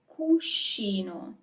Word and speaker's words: cuscino: So here you also have the group SCI. That is always pronounced as she. It's never ski unless there is an H. Otherwise, it's she, if you say it like this. Cuscino.